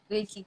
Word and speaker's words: Reiki: Did I pronounce it right? Reiki. Reiki. Reiki, yes.